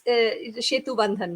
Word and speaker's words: Shetu Bandhan: It's Shetu Bandhan basically in Bengali. I kept it the Bengali pronunciation, and it is truly in this pandemic times.